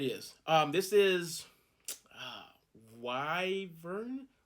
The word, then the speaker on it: wyvern: one yep it is um this is uh why vern wyvern anyway um it's spelt w-y-v-e-r-n that's a weird name i'm just